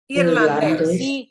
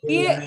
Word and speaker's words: irlandés: Irlandés. Irlandés.